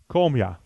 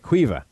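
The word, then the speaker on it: Caoimhe: II this is uh come--as as in come--as oh no it's not it's qui veut qui veut okay perfect alright so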